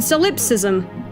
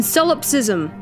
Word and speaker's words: solipsism: again a believer in solipsism Oh a big believer in cell ups ISM I know I'm saying that wrong in Sullivan no I said it right solipsism I'm sorry but I